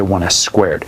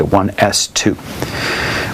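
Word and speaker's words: 1s²: the way you say you don't say 1 s squared say 1 s 2 we went left to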